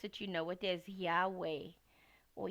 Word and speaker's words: Yahweh: know it as well if you want to pronounce it you know it as Yahweh or Yahweh and um someone on Tik Tok described it